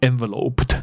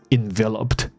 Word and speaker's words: enveloped: 所以这个不念作 enveloped, no, enveloped in mist.